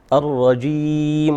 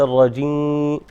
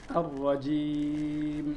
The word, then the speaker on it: الرجيم: الرجيم وليس الرجيم. الرجيم.